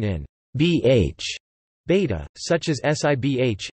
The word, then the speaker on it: sibh: bh, beta, such as sibh, libh, and doib, something not found in the rest of Connacht. These words would be pronounced respectively as shiv, live, and dofa.